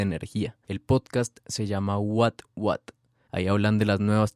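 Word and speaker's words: What Watt: Después de escuchar este episodio de 13%, busquen el podcast What What. Se escribe W-H-A-T, W-A-T-T. Es como que vatio, pero en inglés.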